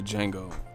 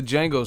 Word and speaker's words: Django: You a beast, but I didn't understand the Django. The D is silent. That motherfucker had them ruffles. And I ain't talking about chips. I just didn't understand why he wore that though. Like, what was the Django suit for or whatever?